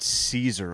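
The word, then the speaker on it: Szczur: It's Matt Caesar, I believe.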